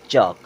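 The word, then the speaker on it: chalk: होता है शांत रहना सी एच ए एल के यहां भी ए के बाद एल यानी कि एल हो गया साइलेंट अब इसे क्या पढ़ेंगे चक क्या पढ़ेंगे चक पी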